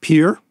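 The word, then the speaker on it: Peere: And this family, I don't know quite how you pronounce this, but the family name is spelled P-E-E-R-E. So it's like Pier.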